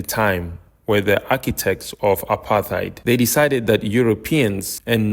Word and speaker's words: apartheid: In order to understand South Africa as a society, you need to understand apartheid, or as the locals say, apartheid.